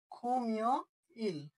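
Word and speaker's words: 금요일: খুমিয় ইল শুক্রবার।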